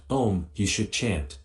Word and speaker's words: Om: own which is pronounced in sanskrit o is a diphthong formed by combining the sounds a and u the adaptation developed the